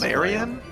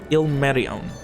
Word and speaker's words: Ilmerion: Marion? Ilmerion, or Mary for short.